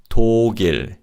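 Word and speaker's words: 독일: Next up is Germany and this is toil. Toil. Now the Chinese origin of these syllables don't relate to the country Germany as to means alone and ill means to escape.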